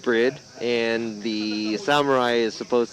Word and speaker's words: BRIDE: yes bride brid is spelled bride but it's pronounced bread and the samurai is